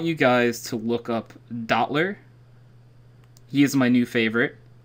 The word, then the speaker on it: Dottler: guys to look up Dottler. He is my new favorite. How do you spell that? D-O-T-T-L-E-R. D-O-T-T-L-E-R. Oh wow! Oh wow! Literally how it sounds.